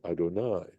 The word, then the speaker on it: Adonai: words when we say even when we pronounce this we say Adonai right we don't pronounce this Y at all that that's the implication